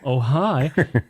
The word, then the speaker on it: Ojai: Oh, hi. Ojai. It's spelled O-J-I-A or O-J-A-I. So Ojai.